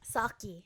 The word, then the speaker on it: Socci: Socci.